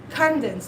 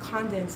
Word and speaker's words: condensed: conde condense condensed milk why is it condensed why why there is like a stress dense yeah but if i